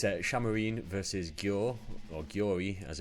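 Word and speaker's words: Šamorín: So it's actually pronounced Shamarine. So I was sort of close. It's the I has got a slight accent above it, not on this screen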